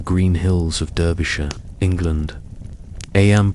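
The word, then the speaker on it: Eyam: Aam pronounced just like Ing is a peaceful community about 800 souls.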